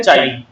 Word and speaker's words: chi: क्या बोलते हैं इसको, वेयर चाई इज a constant and is pronounced as चाई।